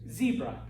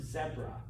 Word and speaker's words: zebra: If you were to go anywhere else where they speak English, they pronounce it zebra, okay? New Zealand, Australia, South Africa, Britain, okay, it's zebra, all right? We're the weird ones on that one, all right?